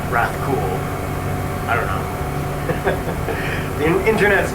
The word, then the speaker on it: Rathcoole: Is you're supposed to put emphasis on the word cool in Rathcoole.